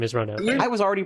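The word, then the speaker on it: Ronove: I was definitely a ronov until I realized that it's actually kind of important that his name is three syllables long yeah totally for what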